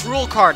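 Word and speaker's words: Rouxls Kaard: Oh, it's Rulecard, I've heard of him. That's how you pronounce his name.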